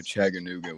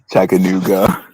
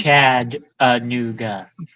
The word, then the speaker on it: Chattanooga: You still said it wrong. Oh my god. Chattanooga. Yeah, you said Chag. It's Chad Anouga. Chad. Did I say it correctly? Oh my god. There's no There's no G at the beginning. Chat a new.